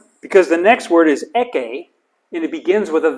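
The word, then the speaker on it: ἔχῃ: And notice eke, the iota subscript, Oh yeah. but doesn't help with pronunciation. It's silent, but it's there.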